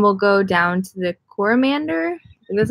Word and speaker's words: Coromandel: We are going to be going up north to the Bay of Islands, and then we'll go down to the Coromandel.